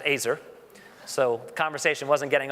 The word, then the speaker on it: Aizer: called me back and he said mister Iser which was a bad sign because my last name is pronounced acer so the conversation wasn't